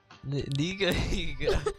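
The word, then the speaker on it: Nigahiga: Niga Higa? Yeah, that's how you pronounce it.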